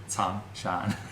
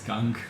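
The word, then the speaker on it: Cangshan: Changshan. It's Kang. No, but it's like pronounced like Tsang.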